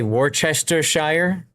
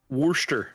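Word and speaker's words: Worcester: It pains your English ears to hear Americans say try to say Warchester. It's unfortunate. Warchester. Worster.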